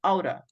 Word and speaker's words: ought: The pronunciation, guys, is aura.